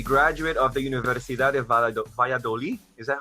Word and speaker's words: Valladolid: who is a graduate of the Universidad de Valladolid is that how you pronounce that and that's right yeah where he